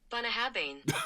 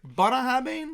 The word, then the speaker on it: Bunnahabhain: year because we said every other name but bah haban when we were trying to pronounce it bah haban like a bun buah habin it's looks NAA